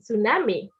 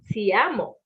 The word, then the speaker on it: Tshiamo: So far that some people have even went as far as saying tsunami instead of Tshiamo.